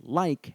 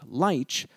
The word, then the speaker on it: lich: Today, we pronounce the word as like and not lich, so this hard K ending suggests that the modern